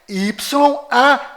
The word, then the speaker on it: YAUH: Na verdade, as letras corretas são YAUH, Yau.